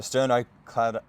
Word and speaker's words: sternocleidomastoid: So I'm starting here in Ninja's SEM, or the sternocleidomastoid.